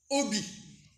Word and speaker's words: obi: sera notre ceinture donc ceinture en japonais qui se dit obi donc ça s'écrit o B i donc c'est le nom